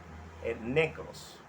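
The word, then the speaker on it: νεκρός: En griego se pronuncia necros.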